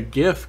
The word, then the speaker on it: GIF: podcast can agree on heart G pronunciation yes I will never say jiff that's peanut butter it's same I'm very soft on gif or Jif I don't give a